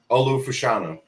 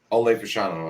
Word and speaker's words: Olu Fashanu: Olu Fashanu. Ole Fashanu, I think.